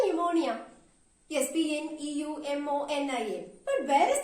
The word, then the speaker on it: pneumonia: are not pronouncing him there is a silent p in the spelling but we are not actually pronouncing him there are many words